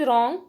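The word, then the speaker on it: wrong: Next is रॉन्ग, रॉन्ग में W silent है तो डब्लू पर सर्कल करेंगे।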